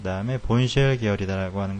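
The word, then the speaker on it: Bourne shell: 그 다음에는 이제 그 가장 기본이 됐던 이제 본쉘, 이걸 본쉘이라고 읽습니다.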